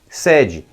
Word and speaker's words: sede: E embaixo, a terceira, sede. É também uma forma conjugada ou flexionada do verbo sedar, anestesiar, e deve ser pronunciado também com o E aberto na primeira sílaba.